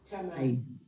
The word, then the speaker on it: Thamae: Or how do we pronounce it? Thamae.